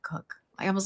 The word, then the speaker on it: Koch: Who pronounce it Coke.